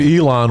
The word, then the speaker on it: Elon: Zach was saying that Elon was you know by the way that's how you pronounce it Elon Elon not Elon Zuckerberg was saying that